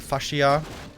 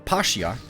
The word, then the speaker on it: fascia: Or as the Koreans actually call it, the pascia. Because, if you guys didn't know, Koreans have a very tough time pronouncing the F. Instead, they oftentimes say the P sound.